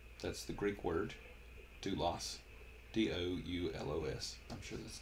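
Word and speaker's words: δοῦλος: The word that they use here is doulos. That's the Greek word, doulos. D-O-U-L-O-S. I'm sure that's not how it's spelled in Greek, but that's how it's spelled in English.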